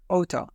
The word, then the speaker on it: ought to: and by the way native speakers often pronounce out to like OT in informal speech I OT study hard